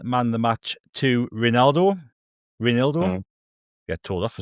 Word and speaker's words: Reinildo: He's not called Rivaldo. We do not have Rivaldo playing for us. So please stop shouting Rivaldo at him.